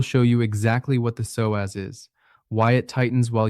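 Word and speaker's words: psoas: It is called the soaz, pronounced s oaz.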